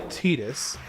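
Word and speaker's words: Tidus: And I yes I know that his name is officially Tetus um in terms of the official pronunciation but I I refuse to call him Tetus. I I think it's the most ridiculous pronunciation of his name in my personal opinion.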